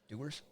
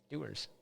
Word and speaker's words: Dewar's: You think that that's pronounced Doers? Is that the worst name in whiskey? Yeah, Doers. You know what Dewar's like? Dewars? I don't know what you want to hear. Like Mountain Dew.